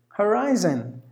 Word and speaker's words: horizon: Horizon. And then the next word is hostage, 2 syllables, hostage. Now here in this word horizon, rise should be given more volume. Sorry, including the I.